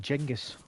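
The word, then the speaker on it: Genghis: going with g well genas KH is actually pronounced jengus yeah yeah Jenga yeah yeah jingus car and Julius Caesar is pronounced Julius Kaiser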